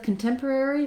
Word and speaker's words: contemporary: we have um the rather than stressing on the first syllable like sanctuary we have stress on the second syllable so we have short and then long contemporary so it's actually like the word temporary so i do have